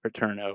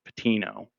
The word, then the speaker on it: Pitino: John's hit like a buzzer beater just to the come out on top there with Rick Not Pitino, Rick Patino. Excuse me, I mispronounced that last week.